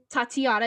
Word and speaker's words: Tatyana: a literature llama um tatiana is how you say it right yeah okay i just